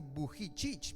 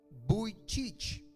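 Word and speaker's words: Vujicic: Tuve que buscar cómo se pronunciaba su nombre porque iba a decir Buichicich, pero es Nick Buicich.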